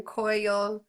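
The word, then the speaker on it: Coyolxauhqui: god who fought his brother and sister, or Koyolshoke, the moon goddess, immediately after his birth, and that's pronounced or spelled Coyolxauhui. So again, Koyolshoke.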